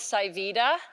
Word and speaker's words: pSivida: Pharmaceuticals formerly known as sy Vita and good branding says it's a little hard to remember a name when the P is silent so we changed the